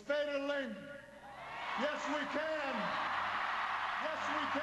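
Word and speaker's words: Is Féidir Linn: It's Féidir Linn. Yes, we can. Yes, we can. It's Féidir Linn. It's Féidir Linn. Is that decent pronunciation? It is. That's very good, actually, and which means yes, we can.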